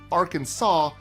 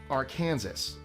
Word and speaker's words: Arkansas: 3 syllables, stress on the first and last, and the final S completely silent. So it's Arkansas, not Arkansas.